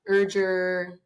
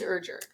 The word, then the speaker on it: Erger: you told her it's rhymes with Burger it's the best way to say it people mess it up a lot urger usually it's urger yeah I was trying